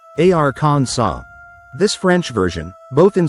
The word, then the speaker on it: Arkansas: In French that final s is silent. So they pronounced the word something like arans saw.